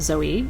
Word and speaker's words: Zoe: Greek name and so her name is Zoe pronounced Zoe in Greek and Zoe means life